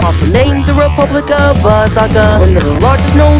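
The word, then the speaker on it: Sakha: Saka Republic is how you pronounce me.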